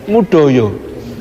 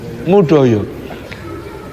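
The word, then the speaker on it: Moedojo: tidak merasa dipanggil soalnya tulisan namanya itu ejaan lama Moe Dojo tulisannya Moe Dojo bacanya mudoyo mudoyo nah dia itu di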